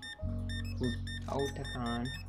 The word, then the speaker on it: Otakon: Oh, like Otaku. Okay. Otakon.